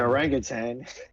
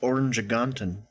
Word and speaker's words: orangutan: you know they got the intelligent orangutan it's pronounced orangan this is not Monster